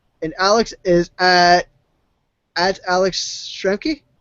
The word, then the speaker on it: Schramke: is at PurelyJustin, and Alex is at Alex Schramke? Schramke, yeah. Would you like me to spell that for you?